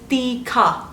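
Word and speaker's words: तीखा: spicy in Hindi Teekhaa. Teee---kha and not Tikka Yes Teee.....Khaa In Korean you can say Meyeyo Meyeyo!!, perfect making these Does it sound like mayonnaise?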